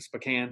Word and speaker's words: Spokane: so then you moved on from there to a small town, then back to Spokane, right?